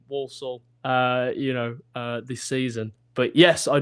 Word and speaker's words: Walsall: And in addition to working in wrestling, I know that you also do some work with Walsall. Am I pronouncing that right?